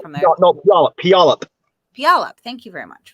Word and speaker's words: Puyallup: next to the, I'm sorry, how do you pronounce that? Puyallup River. I'm not from there. No, Puyallup.